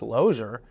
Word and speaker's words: Losier: And so it was always pronounced Losier. But you can't tell anybody that because, well, it's spelled like loser. So when I got out